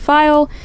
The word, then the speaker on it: Pfeil: My username on Instagram is just File. It's with a K. File is spelled Pfeil.